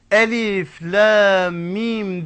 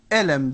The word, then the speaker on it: Elif Lam Mim: aleyhissalatu vesselam bize öğretmeseydi Elif Lam Mim diye okunuşu Biz ne okurduk Elem der giderdik okunu şu bile o